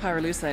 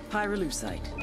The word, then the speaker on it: pyrolusite: him you know what pyrolusite is right yeah no they did i Pyrrha lucite key syllable pyro by the way is